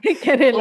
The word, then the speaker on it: केरल: हमको ये स्टेट का लाइक प्रोनाउंसिएशन बहुत तकलीफ लगता है। क्या? केरला। ओ ठीक है, अभी निकल गया अच्छे से। करेला ओपन एरिया से निकल गया।